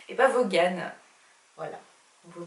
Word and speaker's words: Vaughan: on me dit dans l'oreillette que ça se prononce brian von ébats vaughan voilà vous prononcez pas volé ce qu'il yaa